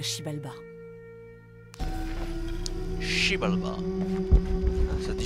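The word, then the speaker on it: Xibalba: Ceux qui prouvaient leur innocence pouvaient partir, mais les coupables étaient exécutés et envoyés à Shibalba. Shibalba. Ça dit Shibalba. On prononce pas le X. Incroyable. Le X, on prononce Sh.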